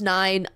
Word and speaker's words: IX: I know it's pronounced 9. I'm calling him Ix for the eon of nihility.